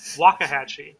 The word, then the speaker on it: Waxahachie: Waxahachie, I believe, is the proper pronunciation.